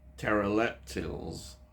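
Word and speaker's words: Terileptils: Now, fugitive aliens called the pteroleptils, that's it, I've said it right, yeah, pteroleptils,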